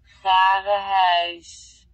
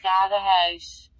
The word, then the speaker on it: Garen Huis: Vaderhuis. So it's in Dutch. Just try it. Vaderhuis. Vaderhuis. House. Okay, I can't do it. I'm not sure. Vaderhuis.